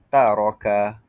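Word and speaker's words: تَرَكَ: Contohnya taraka taraka. Seterusnya takrir getaran hujung lidah pada ra. Taraka taraka. Setiap kali kita sebut huruf ra itu terdapat getaran ro taraka.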